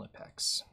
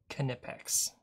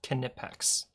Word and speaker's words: Knipex: Good old Nipex. Knipex. Can you believe that? It's pronounced Knipex.